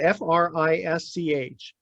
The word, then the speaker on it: Frisch: F-R-I-S-C-H. Frisch? Frisch. Okay.